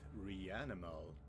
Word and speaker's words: REANIMAL: This is and I've returned once again with Rianimal. I guess that's well that's how you're supposed to pronounce it.